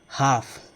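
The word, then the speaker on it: half: दिखाई देता है तो इसको आपको हाफ नहीं पढ़ना है, दैट इज़ हाफ।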